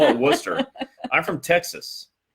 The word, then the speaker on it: Worcester: They saw they call it Worcester. I'm from Texas. For me, that's like it reminds me of the sauce that went on the steak tonight.